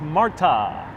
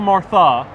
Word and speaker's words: Marta: Marta. Not Martha, Martha would be the English equivalent, right?